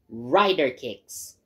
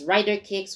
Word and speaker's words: RIDERKIX: this game i call ryder kicks so it's writer kicks with the k i x spelling it's spelled as one word so for this game